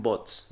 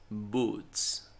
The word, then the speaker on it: boots: Las botas, con la pronunciación de las botas, luego me dicen bots. No, no es bots. Boots. Una doble O casi siempre suena como U, boots.